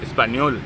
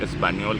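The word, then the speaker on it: español: آپ اسپانیول اسپینش میں کہتے ہیں، اس کا تلفظ اسپانیول کہلاتا ہے اگر آپ زبان کا نام لینا چاہیں.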